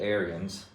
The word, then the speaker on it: Ariens: But we have an Ariens or Ariens, depending on what part of the country you're at. I get numerous people come in and they pronounce it all different ways. But I pronounce it Ariens.